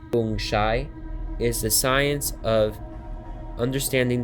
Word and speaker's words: feng shui: The Chinese system of geomancy, feng shui, pronounced feng shai, is the science of understanding the dragon currents which exist beneath the earth.